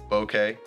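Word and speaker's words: bokeh: the more okay and that is pronounced bouquet at least according to Google number three is investments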